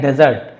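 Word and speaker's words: desert: इसे हम पढ़ते हैं डेजर्ट। डेजर्ट ज पढ़ रहा हूं ना ज डेजर्ट।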